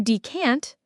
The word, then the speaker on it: decant: To decant, spelled D E C A N T, means to pour a liquid from its original, larger container into a smaller one. The stress is on the second syllable. Decant.